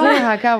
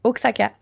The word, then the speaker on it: Oaxaca: Demande pas de prononcer Oaxaca, par exemple. Prononçons Oaxaca, voir. Mais je me souviens plus comment... C'est X en premier? Oaxaca. Ouais, Oaxaca.